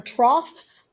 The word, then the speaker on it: trough: equilibrium as trough or troughs it's spelled kind of funny so people always want to call it liked rows but it's trough like it's the thing that an a pig would eat out of at a farm does